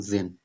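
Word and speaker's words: zehn: और 10 का क्या होता है, जेन, जेन, तो द्राई जेन, ठीक है।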